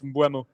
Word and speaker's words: Mbeumo: It's Mbumo. It's going to kill with this, like, isn't it, the way people pronounce the names.